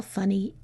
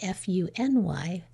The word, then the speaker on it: funny: If we didn't do that, if we just left it F-U-N-Y, then we'd have two open syllables, and we'd have to read it funy, which is not the word.